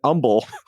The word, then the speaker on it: Humble: CPL Grammar on Reddit says, "A petty gripe for them is how we pronounce the H in Houston, but it disappears in Umble."